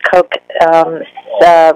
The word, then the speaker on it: Koch: That's Koch, rhymes with joke, but it's spelled Koch.